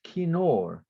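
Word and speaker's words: כינור: it appears in the Psalms many times it's pronounced kinor Kino k-i-n-o-r and when you type you write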